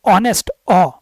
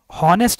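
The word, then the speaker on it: honest: तो ऑनेस्ट, ऑनेस्ट, ठीक है, हॉनेस्ट नहीं बोलते इसको, ऑनेस्ट बोलते हैं, तो यहाँ पे एन लगाया जाएगा।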